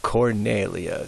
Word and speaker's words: Cornelia: field and then uh another popular ancient Roman name for a woman Cor Alia Cornelia C's like K's um now V's are